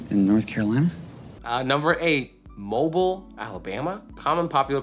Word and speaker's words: Mobile: Number eight, Mobile, Alabama. Common popular pronunciation, Mobile. Prevailing local pronunciation, Mobile.